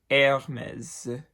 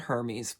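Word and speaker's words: Hermès: is the designer Hermes in French you never pronounce an H that is at the front of a word so it is it basically starts with the e Hermes just don't pronounce it Hermes please an angel loses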